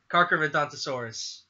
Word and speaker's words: Carcharodontosaurus: Carcharodontosaurus.